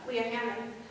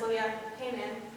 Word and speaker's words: Hammond: I think he was just looking towards towards the future, and the future project manager, Leah Hammond, often mispronounced as Leah Hayman.